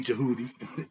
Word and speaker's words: Djehuti: So understand that Djehuti is spelled D, which is silent, not the Django, not D Djehuti.